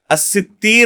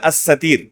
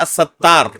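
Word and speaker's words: السِّتِّير: الستیر اللہ رب العالمین کا، یا الستیر، دو طرح پڑھا گیا اس کو، یہ صحیح نطق ہے اس نام کا. بعض لوگ کیا کہتے ہیں؟ الستار. بعض لوگ کیا کہتے ہیں؟ الستار. کتاب و سنت کے اندر کہیں بھی الستار اللہ رب العالمین کا نام وارد نہیں ہے.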